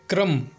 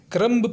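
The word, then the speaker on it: crumb: हमारा next example है क्रम, जिसका मतलब होता है टुकड़े करना या फिर कण। कई लोग इसे क्रम्ब पढ़ते हैं, जो कि गलत है।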